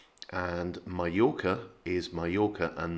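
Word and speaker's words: Mallorca: word for chicken is puyo not pollo and mayoka is majorca and not i think most people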